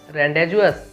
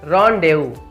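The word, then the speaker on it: rendezvous: आपने इसे क्या प्रोनाउंसिएट किया, रेंडेजुअस। तो दोस्तों सॉरी फॉर दिस, बट आप गलत हैं। ये जो वर्ड है ना, इसे हम प्रोनाउंसिएट करेंगे रॉन्डेवू।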